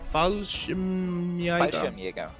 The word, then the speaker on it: Fallschirmjäger: Because Spoos didn't go for the troll and took the Panzerzug, he has the how would you pronounce those infantry? Fallschirmjäger.